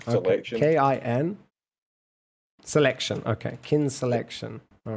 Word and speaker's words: kin selection: selection it's called kelation okay you're have to spell it for me Mr Scottish k i n k i i n selection k i n selection okay kin selection all right K selection is